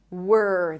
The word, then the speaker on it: were: So from the W you round your lips. W. And then you transition to the R. Were. There is no O in the middle.